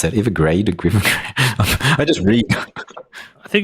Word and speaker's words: Evergrande: How do you pronounce that? Evergrande? I just read. I think it's Evergrande. Evergrande.